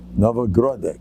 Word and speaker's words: Novhardok: Novhardok, they call it in Russia. A Russian friend of mine is always correcting me. It's called Novhardok. Oh, okay. Let's say it right.